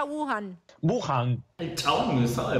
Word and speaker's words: Wuhan: Bueno, primera duda de Nico Wiñaki, ¿cómo se pronuncia Wuhan? Wuhan.